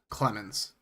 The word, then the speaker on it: Clemens: Clemens. It's like Kellen Clemens. I just can't like I read read it as like Clement like Roger Clement or like you know Nate Clemens.